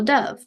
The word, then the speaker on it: dove: beautiful bird called a dove Dove rhymes with love nobody wrote about hamsters